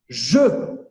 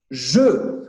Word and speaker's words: je: Ce, je. Ce, je. Olha que interessante. O som de je, que é jogo, ele é exatamente o mesmo que o ce, que é o este.